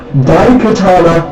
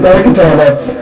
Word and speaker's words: Daikatana: the game is called Daikatana, not Daikatana, spelled like die, like you're dead, like you're dying.